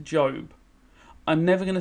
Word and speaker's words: Job: is the story of now this name is pronounced job i'm never going to say it job here why would i because it's spelt job